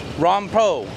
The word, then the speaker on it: Rompho: guys there it is ROM po or po Market po ROM po so now I'm saying it right Romo Market here in